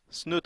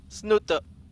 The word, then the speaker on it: Snute: mad every single time did you say it like that I say snoot he's like can you please stop saying snoot it's it's not you ever been to